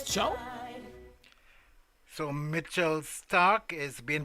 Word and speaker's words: ciao: Oh, and it's not Ciao, it's pronounced Chow. Wait, it's Chow?